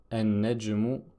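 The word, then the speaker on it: النجم: Et enfin, la dernière lettre solaire, le noun, avec l'exemple qu'on a déjà vu en début de leçon, an-najmu, qui veut dire l'étoile.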